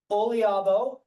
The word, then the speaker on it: Oliabo: I think that's all the time we've got right now for questions, but again, Olabo, that's how you pronounce it.